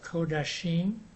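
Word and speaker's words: קדשים: And in the book it says this, the next one, the plural, is supposed to be pronounced Kodashim, I don't know why you had that O vowel sound there.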